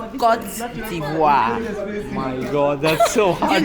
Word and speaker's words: Côte d'Ivoire: how do you pronounce the name of the country correctly? Okay, we said Côte d'Ivoire. My God, that's so hard. You can do it, it's not hard. Côte Côte d'Ivoire.